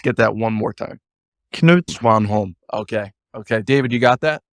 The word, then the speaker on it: Knut Svanholm: But the correct pronunciation would be Knut Svanholm. Okay, let's get that one more time. Knut Svanholm.